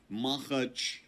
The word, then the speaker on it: Makhachkala: been caught on fire within the area of Makhachkala. Sorry, everyone, that name is really hard for me to pronounce. It is actually Makhachkala.